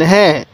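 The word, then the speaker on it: ه: হরফটার নাম কি হা এই হা টা উচ্চারণের সময় মুখ দিয়ে হালকা আওয়াজ বের করব হা এরকম ভাবে একটা আওয়াজ করব তাহলে ওয়াও এরপরে হা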